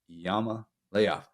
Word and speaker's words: Iamaleava: And I was like, it's Leava. It's got it right there in the pronunciation guide.